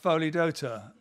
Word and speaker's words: Pholidota: See, and I can't remember how to pronounce the word. Yeah. Pholidota.